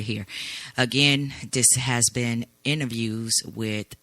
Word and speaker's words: Inner Views: Again, this has been interviews with, and that's INNER, not enter, interviews. So I had to spell that out so people would know I'm not pronouncing it wrong.